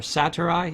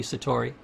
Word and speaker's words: Satori: focused you have that moment of Satori or Satoru it depends on you know people pronounce it differently but it should be Satori serenity I remember I